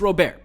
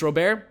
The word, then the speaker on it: Robert: baseball i got luis robert two things i gotta say one it's pronounced robert there's a video on youtube where he talks about says encuba is robert and he says in america it's robert so like i'm